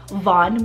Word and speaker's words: Vaughn: here Valen and Vaughn so v-a-l-e-n Valen and Von v-a-u-g-h-n now Valen means strength and health Von means little one so together I find that